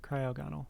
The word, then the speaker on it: Cryogonal: can take the cryogenol am i saying that right crayo'gonnal cryogonal i believe was the pronunciation i forgot because i really could care less about this pokemon oh yeah cryogonil okay i am saying it right it just sounds so